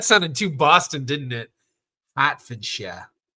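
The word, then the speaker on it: Hertfordshire: too Boston didn't it hatford not hurt fordshire hurt fordshire I'm hurting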